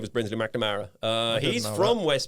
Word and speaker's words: McNamara: McNamara. Some people pronounce it McNamara because that's an Irish poet as well though, isn't it?